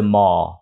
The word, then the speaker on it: mall: m m m m mà nói nhanh nó thành giống như từ mo mo đó nói từ mo thì nó còn chính xác hơn là từ mon mon nữa nha nó không có âm N phía sau cho nên đọc là Mall Mall I went to the